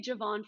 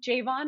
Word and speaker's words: Javon: at a barbecue and his mom was like, oh, it's pronounced my son's name Javon. It's Javon, even though everybody calls him Javon. And he's like, no, call me Javon.